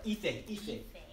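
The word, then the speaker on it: ìfẹ́: Okay, so we're gonna do our ife. Two syllables. Ife.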